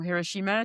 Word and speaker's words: Hiroshima: So, we're going to Hiroshima or Hiroshima, depending on how you say it.